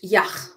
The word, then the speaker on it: Yach: Yach. No, it's a CH. Yach. Yach. Yach. Yach liegt im Schwarzwald in Südwestdeutschland. Ja, Yach liegt im Schwarzwald in Südwestdeutschland. Right. So in England, wouldn't say Yach, we'd say Yach lies